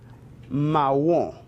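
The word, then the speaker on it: marron: distrito nacional bien marrón mahou ma la pronunciación es realmente similar español pero requiere suavizar un poco la r bien y la nasa lización al final se reduce mahou porque pitea podemos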